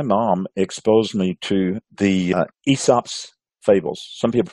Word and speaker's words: Aesop: But I specifically, my mom exposed me to the Aesop's fables. Some people pronounce Aesop is A-E-S-O-P, a Greek Aesop.